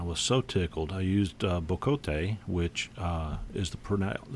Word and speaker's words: bocote: I used bocote, which is the correct pronunciation, and I like to look into the